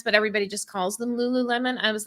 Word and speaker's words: Lululemon: of that brand uh lulan is that how it's said L Lululemon I'm sorry it's Lululemon my bad I don't